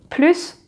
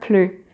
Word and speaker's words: plus: So when you need to pronounce the final S and when it's silent.